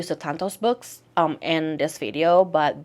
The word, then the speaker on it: Sutanto: Aunties by Jessie Q Sutanto. That is how I believe you pronounce her last name, because she is Indonesian and I am Indonesian as well.